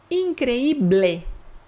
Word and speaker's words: increíble: Increíble, tem que pronunciar essa letra E, increíble, senão tá errado.